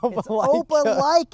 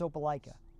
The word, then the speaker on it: Opelika: Opelika is how you pronounce it in the South, man. But it's spelled Opileka. And it's Opelika.